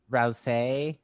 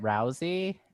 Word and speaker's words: Rousay: Rouse, but my mom says it rousey and my dad's like, "Yeah, that's that's cool." But I don't know anybody else who said it that way.